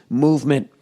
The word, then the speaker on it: MVMT: more to go oh mvmt movement watches pronounced movement was founded on the